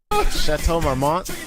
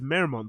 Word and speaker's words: Chateau Marmont: He says Marymount, doesn't he? He says Marymount. That Chateau Marymount or whatever. No, he says Marymount.